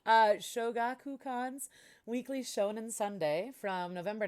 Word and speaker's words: Shogakukan: evil half demon niraku inuyasha was serialized in khan show oh sorry sorry for pronunciation uh shoga kukan's weekly shonen sunday from november 1996 to june 2008.